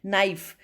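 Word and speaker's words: knife: नाइफ, नाइफ में के की साउंड नहीं आती.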